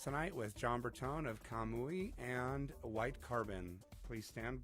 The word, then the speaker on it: Kamui: Kamui? Kamui. I was saying it wrong, John, and I sincerely apologize.